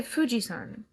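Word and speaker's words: 富士山: They call it They say Fujisan is what how they say it.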